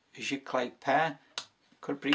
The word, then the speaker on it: Sziklai: Sziklai.